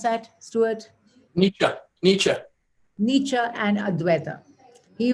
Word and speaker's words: Nietzsche: How do you pronounce that, Stewart? Nietzsche.